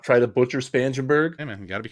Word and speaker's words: Spangenberg: It does have the pronunciation of his name. Spangenberg.